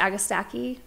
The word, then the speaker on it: Agastache: We pronounce it Agastache.